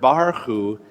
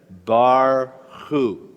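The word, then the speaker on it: ברכו: But in the word barchu, it comes at the end of the syllable, so it's bar, it's just silent. Okay, there it is. Can we all read the Hebrew together? Barchu.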